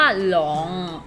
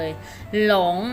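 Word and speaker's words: 龙: คำ นี้ นะ คะ อ่าน ออก เสียง ว่า ลอง ลอง นะ คะ ลอง ลอง ให้ ที่ นี้ แปล ว่า อะไร คะ ลูก อ้า มังกร เก่ง มาก เลย หลง นะ คะ แปล ว่า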